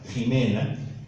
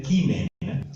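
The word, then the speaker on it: Ximena: Por ejemplo, Jimena no se escribe con J, se escribe con X, a la antigua, ¿no? Ahora, claro, ahora con la J a la moderna, pero es con X y se pronuncia Jimena, debería ser Quimena, que es como pronuncian en latín los alemanes y los polacos, que es la llamada pronuncia restituta.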